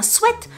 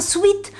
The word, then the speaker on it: sweat: le vrai mot, enfin la vraie prononciation pour ça, c'est un sweat. C'est pas un sweet, parce que sweet ça veut dire doudou, ça veut dire sweet sweet, sweet sweet.